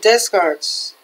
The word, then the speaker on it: Descartes: Let me see how to say it. It's Descartes. Descartes.